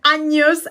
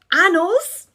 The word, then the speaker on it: años: Did you say años or did you say anos? I really hope you said años and not anos.